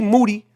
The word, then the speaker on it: Moody: far away from G Moody last name rhymes with duty where he grew up